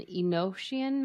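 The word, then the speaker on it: Enochian: oh yes yeah I've heard of that and inosan magic it's spelled e n o c h i a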